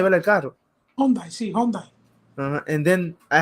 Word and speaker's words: Hyundai: Hyundai, ¿verdad? El carro. Hyundai, sí, Hyundai.